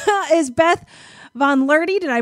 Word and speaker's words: VonLuehrte: my guest what an introduction right is beth von learty did i pronounce it correctly yes you did yay um